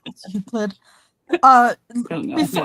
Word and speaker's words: Euclid: It's Euclid. I don't know Before- how to pronounce it.